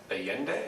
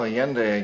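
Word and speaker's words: Allende: yeah Foul Play so let's move on to aende is that the pronunciation mhm yeah well yende again President of Chile and um aende went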